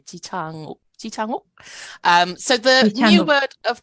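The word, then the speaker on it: 지창욱: to pronounce Korean, is there's a lot of aspirated consonant sounds. So breathing through a lot of the pronunciation actually increases like how well like good your pronunciation is. So you can say Ji Chang Wook, Ji Chang Wook, doesn't sound as Korean as Ji because you like breathe through that J sound.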